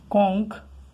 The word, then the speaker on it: conch: কঙ্ক, CONCH, শেষে সিএইচ এসে কিন্তু ইএস করবো না, কারণ সিএইচ এর উচ্চারণটা এখানে ক আসছে, ওই জন্য কংস করতে হবে।